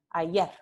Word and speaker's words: ayer: Entonces, en lugar de decir ayer, se dice ayer. Ayer, ayer. Entonces, aquí no vibran las cuerdas vocales.